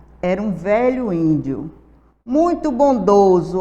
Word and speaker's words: bondoso: um velho índio muito bondoso Olha a palavra bondoso escrita com s e com som de z e querido pelo seu